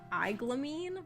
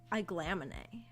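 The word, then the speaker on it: Aiglamene: I think and uh the military woman at the beginning who raised who raised Gideon I was pronouncing her name in my head as elamine but it's actually apparently a glamin from the audio book I don't think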